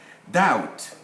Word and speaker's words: doubt: one of germanic and romance languages they have silent letters doubt subtle as you can see the b subpoena